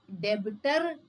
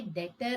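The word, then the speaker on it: debtor: जैसे कि यह डेबिटर नहीं है। यह डेटर है। डेटर ब साइलेंट होता है।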